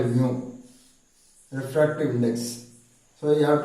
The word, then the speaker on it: mu: Is a Greek word, MEW. The pronunciation is mu.